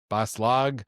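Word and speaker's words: Bas-Lag: Perdido Street Station, the station, like the train station, the city that they're in, Baslag, is just Am I saying it right?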